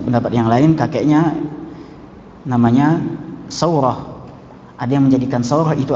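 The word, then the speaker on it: سورة: Muhammad bin Isa bin Saurah, Saurah sin waw ra tak marbutah, sa-nya jadi fathah, kemudian wa-nya disukun, roh fathah juga, jadi bacanya Saurah.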